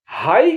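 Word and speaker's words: high: एम में पी और एल दोनों साइलेंट है हाई का उच्चारण एच आई जी एच का उच्चारण हाई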